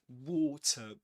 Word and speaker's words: water: That D in at the end of water. In American English, we call that a flap T. A flap T in water.